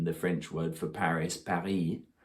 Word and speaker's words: Paris: French word for Paris Paris it's got the S on the end but you don't say it but sometimes when they